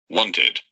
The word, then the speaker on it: wanted: When the verb ending is the sound T or D. For example, want, want. The last sound is T, and the pronunciation is Wanted. Wanted. Because finished in T, you pronounce it, wanted.